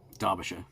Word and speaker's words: Derbyshire: So yeah, that's the USS Derbyshire, sorry, Derbyshire. Well, it's spelled Derbyshire, but it's Derbyshire.